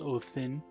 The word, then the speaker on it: Odin: say uh odin uh but in uh old old norse uh back in the viking age they would have been pronounced o thin um with that th turning into a a d in later grammatical iterations then ends up being used mostly in english as odin i prefer the older